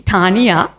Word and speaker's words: Taniya: of tough for you guys so it'll be Tanya yeah yeah I know if that's very complicated